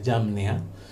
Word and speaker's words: Jamnia: El Antiguo Testamento se recopiló oficialmente por allá en el año 100 después del Señor Jesucristo, en el Consejo de Yamnia. Se escribe Jamnia, aunque este ya había estado en uso por casi 300 o 400 años.